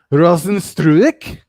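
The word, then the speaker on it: Rozenstruik: JDS Junior Dos Santos faces off against Jazino Rosenstruck. I don't even know why I try to say his first name. Jaranzino Rosenstruck. Um, Rosenstruik?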